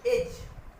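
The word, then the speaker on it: edge: डी के बाद जी आता है तो डी साइलेंट हो जाता है। एग्जाम्पल देखिए, एज, एज, डी के बाद जी आया, डी साइलेंट।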